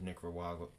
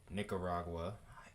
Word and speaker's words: Nicaragua: on both sides of Nicaragua Nicaragua I don't know why I keep trying to add that extra syllable in there but um as you can see in Nicaragua we have a tropical